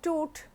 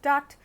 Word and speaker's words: Tut: Now, related to the pronunciation of toot, many people pronounce it as toot or somebody says as tut. So, it does not matter, after all this is